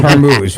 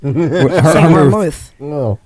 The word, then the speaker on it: vermouth: It we are we talking about the axing or the her way to pronounce the vermoose acting like hormouth. Vermouth like she's thinking booze is not vermouth.